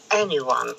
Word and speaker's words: anyone: Нет, не anyone, Вика. To never need anyone. Anyone. Скажи anyone. Anyone. Anyone, and now they are in... No, not anyone. Anyone. Anyone. Опять. Anyone. На первом слоге ударения. Давай.